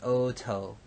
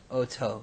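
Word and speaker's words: אֹתוֹ: Third masculine singular is oto. Now here we have our aleph tav, which we're familiar with, et, but with an o class vowel in the first syllable, and then a spiranted tav, oto.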